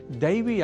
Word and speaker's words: दैवी: इसी तरह से दैवी इस शब्द के ऐ अक्षर का यदि अशुद्ध उच्चारण कर दिया जाए, अर्थात ऐ को ए के रूप में कहा जाए, तो दैवी के स्थान पर देवी यह शब्द शुद्ध होगा।